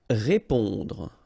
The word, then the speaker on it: répondre: Répondre. Okay, remember, accent aigu like that. So when the accent is going in that direction and it's just above the it will produce the sound E. Répondre.